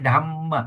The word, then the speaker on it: dhamma: buddha dhamma you se you don't say dhma dhamma we say dhamma pause at the double Yes.